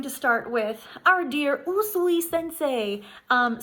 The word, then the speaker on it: Usui: start with our dear usui Sensei um some people say it yui in fact I think most people say it yui um UI is actually the proper Japanese way of pronouncing his name so I will be